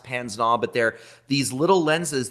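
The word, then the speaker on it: pince-nez: the glasses that he's wearing are are called Pan's gnaw it's spelled pins but it's pronounced panznav but they're these little lenses that clip onto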